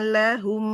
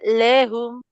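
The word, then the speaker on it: لَهُمْ: waqoalqu waqalqu alaiim akjna lahum nah di lahumnya enggak lehum Imalah ya, Ustazah.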